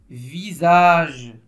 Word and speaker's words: visage: se pas TASS tasse visage oui la lettre S se trouve entre deux voyelles elle se prononce Z très bien s très